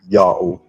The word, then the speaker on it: Yao: name of God, and it's simply pronounced with an inherent short A vowel, Yah. The letter Ha is a silent vowel placeholder because it was followed by a vowel. The letter Wa is a long O vowel because it's not the first letter of a word. Therefore, it's read as Yao.